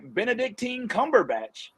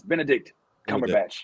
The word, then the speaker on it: Benedict Cumberbatch: we got khan one benedictine cumberbatch all right who's doctor strange i said his name wrong didn't it's benedict cumberbatch i don't know why i try to make his name into an ointment but um yeah man